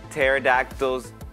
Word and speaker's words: pterodactyls: why can't you hear pterodactyls in the bathroom um in the bathroom um i don't know because the p is silent but um i'm guessing